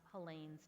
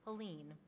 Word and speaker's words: Helene: They see it spelled Helene, and they think it's Helene. Helene would say to me all the time when people would mispronounce her name, "Rabbi, it's Helene like pain."